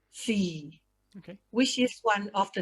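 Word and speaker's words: SEE: sports every event or s-e-e we pronounce c which is one of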